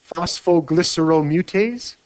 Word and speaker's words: phosphoglyceromutase: Okay, how do you pronounce what? Phosphoglyceromutase.